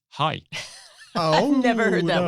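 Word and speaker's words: hej: first day in Denmark saying hedge to people not realizing that it's pronounced hi oh I've never heard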